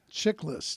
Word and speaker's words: Chiklis: And I'm here with my guest, Michael Chiklis. Did I say that right? Chiklis, 2 syllables, Greek name, easy to say. I knew it was Greek. Chick and list, not less.